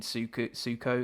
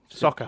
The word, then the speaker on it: Sokka: For me, the thing I really enjoyed about the episode is the relationship between Suko. Is it Suko? Sokka. How do you say it? Sokka.